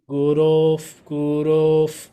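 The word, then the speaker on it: गुरोः: Gurof, long O. O is always long. Gurof. Parataram Nasti. You have to say the word Gurof.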